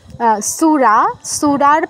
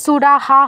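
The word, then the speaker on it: সুরাঃ: এটা কিন্তু সুরাহা হবে না বা সুরাহ হবে না, কি হবে? সুরাস, পরে যেহেতু তালব্যস্য আছে।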